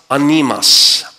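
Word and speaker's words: ἄνεμος: The word wind is the word, it's pronounced animas.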